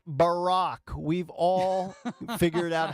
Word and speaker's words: Barack: It's, with all due respect, doggy, it's Barack.